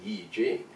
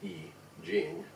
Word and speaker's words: Yi Jing: properly it should be Yi Jing and and you'll see that sometimes y IJ ing and then the Chinese pronunciation is e gene and so you can